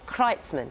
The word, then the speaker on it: Kreitzman: With us is David Sinclair, Director of the International Longevity Centre, which produced the report, and artist Kreitzman. Did I pronounce that correctly?